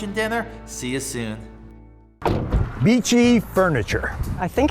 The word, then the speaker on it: Beachy: It's not pronounced Bichet. Beachy Furniture, located next to the Mermaid a few miles from the Delaware beaches on US Route 9.